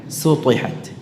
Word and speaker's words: سطحت: Sutihat. Ini tipis, pakai sin. Pakai sin ya. Ya, sin. Ta. Sin itu tipis. Namun karena dia berharakat dhammah, bisa berubah ya kalau tidak dijaga sifat tarqiqnya ya, istifal dan infitahnya, maka bisa berubah menjadi sad, su.